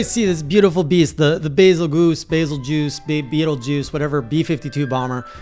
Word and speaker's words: Bazelgeuse: Turns out it's, probably gonna pronounce this wrong, a Bazelgeuse, a Bazelgeuse, Basil, it sounds like Beetlejuice.